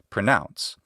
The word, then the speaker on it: pronounce: One is the verb to pronounce, and that's OU, and in the way I pronounce English, it makes the diphthong ow, pronounce.